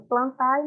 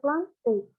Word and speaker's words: Plantae: E quando a gente vê o reino Plantê, vê essa palavrinha AE no final, quer dizer, se escreve plantai, mas pronuncia Plantê, tá bem?